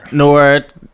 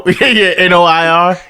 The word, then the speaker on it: noir: certain type of Photography it's called Noir okay and it's spelled like that n o i r yes okay so I just I would assume that is called Noir yeah EXA okay it gives